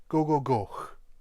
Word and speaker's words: gogogoch: And then the last part, very straightforward, except the CH at the end. It's not a ch sound, remember, it's more like the CH in loch. So it's Gogogoch.